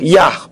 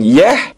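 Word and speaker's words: יה: amarti lo R yah yah beret hakayim lo Abit Adam OD Im yosfei Kadel perhatikan lagi huruf Yod dan he di situ terbaca yah bukan Yeh bukan Yuh bukan yih dan bukan Yoh huruf waau he dibaca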